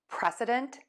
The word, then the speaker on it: precedent: Air moves out of your nose for the N, and then we're gonna pull the tongue down for the T. Pressa. Dənt. Precedent, precedent, precedent.